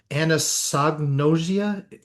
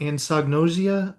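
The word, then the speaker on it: anosognosia: There's there's something called and I can't even pronounce it right. Anosagnosia and and do you know what I'm talking about? Anagnosia.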